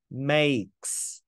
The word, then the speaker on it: make: Đây là chữ A của e câm. E câm là gì? Bỏ qua, không cần biết. Chỉ cần biết chữ này đọc là A. Âm A giúp em cả lớp. Make. Chữ e câm tức là không có đọc.